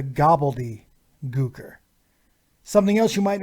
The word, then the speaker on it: Gobbledy Gooker: the greatest crime is nobody ever pronounces his name right every time you hear the name it's always the gobbly er that's not his name it's the gobbledy er something else you might